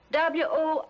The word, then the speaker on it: Worcester: But it's spelled W-O-R-C-E-S-T-E-R. Worcester.